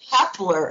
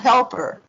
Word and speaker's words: Hepler: Because it's Hepler, it's not Helper.